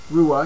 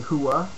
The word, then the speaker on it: Rua: H in Hua uh just like any name from Brazil the r is pronounced with an H that's why you don't